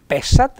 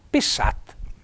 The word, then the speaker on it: pessat: al singolare do S naturalmente e accento tonico sulla a non pessat ma pessat plurale patei fatta questa